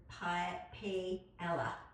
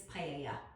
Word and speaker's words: paella: If you said it phonetically, it would paella. It's paella.